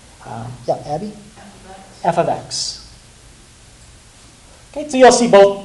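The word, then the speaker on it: f(x): The f parenthesis x, you don't say it like that, but yeah, Abby? F of x.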